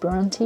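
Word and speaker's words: Brontë: The original work by Emily Bronte, I've heard, and I've understood really recently that it's pronounced Bronte and not Bronte.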